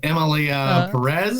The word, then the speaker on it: Emilia Pérez: time review this but uh the movie is Emil Perez that's that's right you said it right I